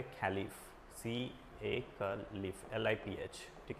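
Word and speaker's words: Caliph: इन लोग बोलते थे खलीफ, CALIF, LIPH, ठीक है, खलीफ, राइट, कैलिफ बोलते, कैलिफ ऐसा प्रोनाउंस किया जाएगा।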